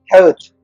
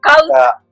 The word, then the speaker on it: Kağıt: I cannot perfectly pronounce that Kağıt. ah sound. ah sound with this little hat on top.